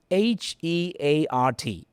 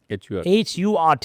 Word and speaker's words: heart: It should be heart, an open mouth, jaw dropping.